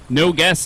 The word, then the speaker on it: Nogus: Levi Nogus, no guess actually is how it's pronounced, 338.